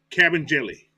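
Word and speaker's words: Kabengele: Cabin Jelly. Cabin Jelly. Cabin Jelly. That's how they pronounce it.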